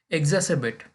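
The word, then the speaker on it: exacerbate: पक्षपातपूर्ण राजनीति पक्षपातपूर्ण राजनीति एग्जासेबेट एग्जासेबेट आ साइलेंट है एग्जासेबेट एक बॉर्ब इसका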